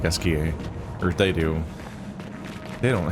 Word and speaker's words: Esquie: So he pronounces it more like Esquier, or they do.